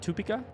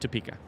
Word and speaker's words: Topeka: It's got to be toe. It could be two, but Tupika. That sounds weird. Opeka. Tupa. Pika. Topeka. Topeka. Topeka. Okay, it's just Topeka.